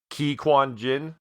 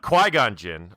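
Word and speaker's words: Qui-Gon Jinn: with Liam niss as Kwan Jin uh sorry I pronounced it like quinoa sorry you fool it is uh Quon Jin uh Liam n uh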